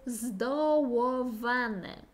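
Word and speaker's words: zdołowany: Як варіант, теж можемо сказати, що хтось є здоуваний. Знаю, складно вимовляти це «у» і «в». Здоуваний. Тобто подавлений, бо знову «ду» – здоуваний.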